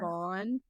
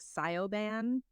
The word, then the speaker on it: Siobhan: Siobhan. When I read it, I'm like Sioban, or whatever.